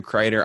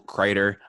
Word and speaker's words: Crider: my name is crater online I go by crater spelled like cider with an R and I got into